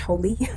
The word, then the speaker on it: Hole: harry hole it's not pronounced whole it's pronounced holy um so harry holy